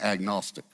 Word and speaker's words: agnostic: That is an agnostic.